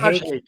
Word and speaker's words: Haque: Shajidul Haque, or how do you say his last name? Is it Haque? Yeah, Haque.